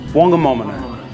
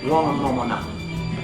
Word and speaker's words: Whangamomona: Whangamomona. The Taranaki Maoris didn't pronounce WH as F, it was just what. So it's Whangamomona.